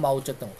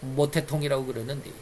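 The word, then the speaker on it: 毛澤東: 통이가 중국을 장악하고 나서 지금 마우저이라고 그러죠 중국말로는 마우저 우리 한문 발음 한국식 발음으로는 모태통통 세력들을 죽창으로 찔러 주기는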